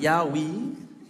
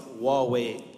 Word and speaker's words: Huawei: to pronounce the word Huawei three two one wonderful not not Yahweh not Hawaii not Yahweh the company is pronounced Huawei Technologies and does anybody know